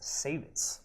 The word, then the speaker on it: Savitz: A little interesting fact about Savitz, it's actually pronounced Savitz Hall.